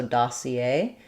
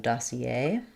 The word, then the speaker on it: dossier: So, dossier. Um we give some secondary stress to the da syllable though.